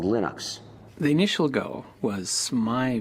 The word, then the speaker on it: Linux: your preferred pronunciation um when i speak swedish it's venus when i speak finnish it's linos when i speak english it's linus and i really don't care how people pronounce my name but linux is always linux he developed a kernel